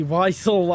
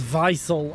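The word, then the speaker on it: Wiesel: single time I see visel, I somehow pronounce it as vicel. I don't know why. Just a weird habit when seeing German words with W to pronounce it as a V.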